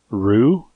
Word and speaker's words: Ryu: But this one time I played with Ryu, or Rue, as some people pronounce it.